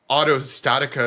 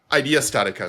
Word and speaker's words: IDEA StatiCa: it's not only just saying Auto Statica is the best, Idea Statica, sorry. I just wanted to double check there because I had a feeling I was getting the name wrong.